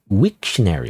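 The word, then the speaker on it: Wiktionary: Wikary. How do you say that actually? Wictionary. Wictionary. Oh, it's wictionary, not wikary. It's wictionary.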